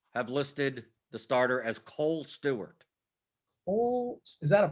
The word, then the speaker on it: Kohl: listed the starter as cole stewart cole is that a person did they just create him it was close it's spelled like the store kohl yes does he